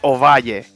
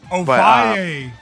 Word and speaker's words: Ovalle: It's pronounced Ovalle. Ovalle.